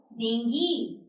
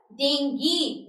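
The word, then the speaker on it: dengue: ठीक है ही गॉट डेंगी उसको डेंगी है ठीक है तो we will say इट एज़ डेंगी नॉट डेंगू और डेंग्यू ठीक है कमिंग टू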